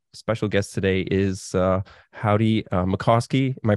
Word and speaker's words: Mickoski: And my special guest today is Howdie Mikoski. Am I pronouncing that right?